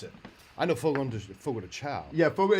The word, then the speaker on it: Fogo de Chão: But that's not how you pronounce it. I know Fogo de Fogo de Chão.